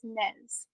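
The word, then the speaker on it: nez: in French but is NES NES okay so don't give your child a name NES it's n po it's n no how do they pronounce it nay a oh don't pronounce the Z okay okay okay oh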